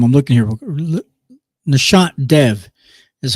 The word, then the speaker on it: Nishant Dev: Nishant Dev is how you pronounce his name.